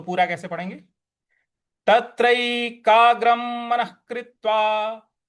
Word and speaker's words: तत्रैकाग्रं: तत्रैकाग्रं मनः कृत्वा। अब यहां पे तत्रैकाग्रं, जो ग के ऊपर जो अनुस्वार है उसका, उसके आगे म है, म का ही उच्चारण लाएंगे।